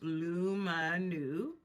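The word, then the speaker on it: Lumineux: Integrity of your teeth the luminex pronounced lumu oh okay lumu bright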